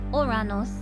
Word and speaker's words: Uranus: for the Super Chat a more accurate spelling pronunciation of Uranus would be oranos though it's far too